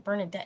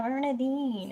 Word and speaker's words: Bernardine: I kept saying Bernardet. She goes, "No, Grandma. Bernardine."